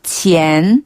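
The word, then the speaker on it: 前: 그래서 발음이 비슷해요. 앞전자는 치엔 치엔 치엔 치엔 뒤자는 호 호 호 호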